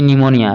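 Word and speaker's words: pneumonia: इसी तरह से आप अगला देखिएगा, यहाँ पे लिखा गया है पी निमोनिया, लेकिन पी को हमको क्या कर देना है, साइलेंट कर देना है। तो यहाँ से हम लोग पढ़ेंगे तो ये हो जाए निमोनिया।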